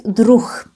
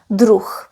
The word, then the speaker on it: druh: The singular form is druh. Keep in mind that if the letter H is at the end of the word, we pronounce it as h. So this is druh.